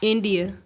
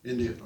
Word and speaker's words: Endyia: Endyia, did I pronounce that right? Is that Endyia. Right? What's that? Endyia. Endyia. Okay, well, I'll probably mispronounce it, but I mispronounce everybody's name.